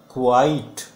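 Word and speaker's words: quite: फिर क्यू यू आई टी ई को कैसे बोलोगे आप, क्वाइट, दिस इज क्वाइट, बिल्कुल, जिसका मतलब होता है बिल्कुल, बिल्कुल शांत, ही वॉज क्वाइट साइलेंट।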